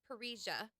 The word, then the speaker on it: parrhesia: So there's a word called parrhesia, pronounced just like that, and that means free speech or to speak candidly.